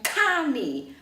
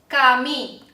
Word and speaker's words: kami: 听到了，它绝对不是送气的哦，它不用送气，所以不可以念成 permisi，不对哦，也不可以念成 tunggu，也不可以念成 kami。我们听一下正确的发音。